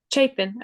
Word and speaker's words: Chapin: mind me asking um chicken or Chapman I'm not sure how it's pronounced Chapin okay so she's in